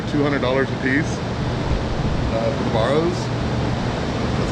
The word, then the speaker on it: Barrow: I'm getting them under $200 a piece for the Barrows. That's how you pronounce it.